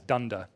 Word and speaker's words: dunder: underscore underscore something and we sometimes pronounced that as dunder although there are small